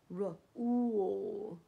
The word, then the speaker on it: rule: 一个是呜呜呜。现在这边就是 mules mules， but rule rule，所以 r 和 l r r r 和 l l l 后面的 u 会发呜的声音，rule。所以 Mules Rule， Mules 就是这个，它是 Horse 和 Donkey 生下来的小孩。So this is a Mule。